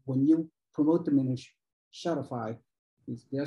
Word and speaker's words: Shopify: The challenge is when you release those new builds inventory, you know when you promote them in Shopify, did I say it right? Shopify, you got it, yep.